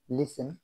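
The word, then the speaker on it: listen: টি silent, H এস টি ই N, Hesson, তাড়াতাড়ি। এল আই এস টি ই এন, লিসেন, শোনা। ও এফ টি ই N, often, fry. এস ও এফ টি ই এন, সফেন, নরম করা।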